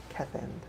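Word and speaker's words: Keth'end: Kethend. Yeah. Then? We've been saying his Kevin. name wrong for weeks.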